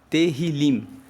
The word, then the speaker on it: Tehillim: Os Salmos, no texto original, são chamados de Tehillim. Se escreve T-E-H-I-L-I-M. Tehillim.